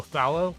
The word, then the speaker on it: phthalo: I'm not going to get on you for it, but Thallow is the correct, Thallow is the correct way of pronouncing it, because it's PHTH, which is which is hard to pronounce, unless you're Greek.